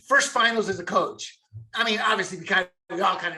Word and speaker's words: Ime: Ime. Yeah, Udoka. Ime Udoka. Yeah. I can get the last name, Udoka, with the accent. Udoka. Yeah. First finals as a coach. I mean, obviously, we all kind of know the answer